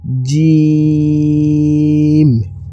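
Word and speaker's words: جيم: জিহ্বাটা বের হয়ে থাকিবে এবং সা, সা, সা উচ্চারণটি হবে। এরপরে হচ্ছে জিম, জিম, জিম।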